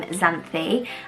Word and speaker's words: Xanthi: It's definitely still in the unique names, and that is the name Xanthi, and Xanthi spelt with an X rather than what I